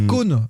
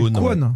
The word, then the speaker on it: Kwon: Alors tu prononces Kohn, mais c'est Kwon, non ?